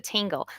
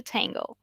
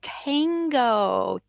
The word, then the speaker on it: tango: used to stand for a lot of native speakers say tango but the original word is to tango tango like to dance the dance of tango right it takes two